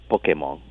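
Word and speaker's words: Pokémon: or American, pocket monster, and in Japanese is pronounced pocket monster. So now they contracted down to Pokemon, and then we take it back and call it Pokemon.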